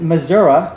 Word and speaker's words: Missouri: very nasty space aliens our family by the way pronounces it missouri because our father retired naval captain was from missouri and said it's the only way it should ever be pronounced so i hope not